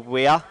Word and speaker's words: Weir: it's uh janice and i do stand corrected on the pronunciation of michael's uh last name it's michael weir and that would have